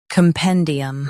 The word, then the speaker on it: compendium: Compendium. Both US and UK have the same pronunciation of this word. Stress pen. Keep cum soft and D clear.